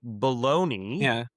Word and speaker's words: Bologna: They didn't have all the final, the boutique ingredients, became bologna, which is henceforth the town. It's a poor pronunciation of the town where mortadella came from, Bologna.